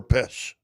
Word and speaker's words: Pest: That is Is it Budapest or Pesh? Pesh. Even though it's spelled P E S T.